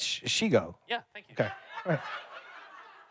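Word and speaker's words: Shego: It's Shigo.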